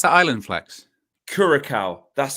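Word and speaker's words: Curaçao: How do you pronounce that island, Flex? Curacao.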